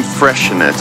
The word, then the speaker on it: Freixenet: probably seen the name Freixenet. You probably don't know how to pronounce it because it has an X in the middle of it.